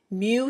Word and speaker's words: mu: what this symbol is it's a Greek symbol and it's pronounced mu mu mu and all mu